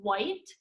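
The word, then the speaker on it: wight: I looked it up, and it's actually pronounced white, like the color, even though it's not spelled like the color, but it's pronounced white.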